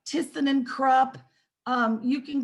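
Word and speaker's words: Thyssen: looking for just call tisson and crop you can call fujitec you can call oh goodness otis elevator and tyson somebody tyson is spelled with a t-h-y-s-s-e-n and krupp is k-r-u-p-p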